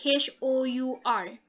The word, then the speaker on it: hour: jellyfish a penguin okay we use the silent h okay h o u r so if when we say an hour it sounds like we start with the letter o okay so that's what